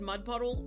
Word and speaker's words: Mudpuddle: because it's deceptive because my name is Mudpuddle. Like my like that's how you pronounce it. But I have it typed in there as mud putty like DD I E with a capital I to look like an L.